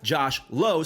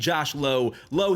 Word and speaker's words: Josh Lowe: guy with the same last name but it's pronounced different you have Josh Lowe so there's Brandon lau and Josh Lowe low he's going off he's hitting 385 with six